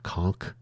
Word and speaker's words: conch: Uh either way, the the platform itself become be itself becomes something of a conch or conchk shell. Conchk is the correct pronunciation.